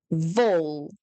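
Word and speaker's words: wol: Now the letter W is pronounced the same as V in English. So we say v, v. Think of the word vase. V. The example I have is wool. But instead of the woo in English, we say v, vol.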